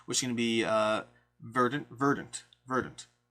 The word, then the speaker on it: Verdant: I've been saying Verdant the whole time, but I think it's Verdant. I keep getting corrected. But that's going to be an upcoming Kickstarter. Accent is on the first syllable.